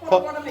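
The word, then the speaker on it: Pottawattamie: Yep, Potawatomi.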